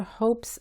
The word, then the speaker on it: hopes: La H se pronuncia como la G en gente, pero más suave. Y la E es muda.